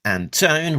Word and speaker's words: Antone: a minute, on SFX, editor Alex Antone, rhymes with phone, assistant editor Caitlin Chappell, publication design Jillian Crab, production design Richard Mercardo, and creative consultant Diana Davis.